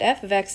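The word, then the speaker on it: f(x): And just so we remember that this is pronounced f of x. This is not f times x, this is not f parentheses x, this is called f of x.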